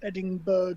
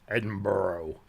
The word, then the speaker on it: Edinburgh: Going up to Edinburgh tomorrow. Or as the Americans say, Edinburgh. Yeah. Yeah. There's no fucking O's in there.